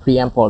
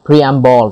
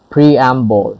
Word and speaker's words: preamble: brampo yeah preemple preample you pronounce it preample sorry again let's pronounce together again preample yes preamble sorry preamble yeah pre-embossed an introduction to